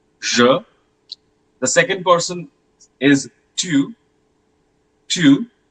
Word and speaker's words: tu: The second person is tu, tu. Don't pronounce it as tu. It's not like Hindi tu. Okay, it's tu, tu, tu.